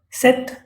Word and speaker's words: cet: So we use sa, set, set.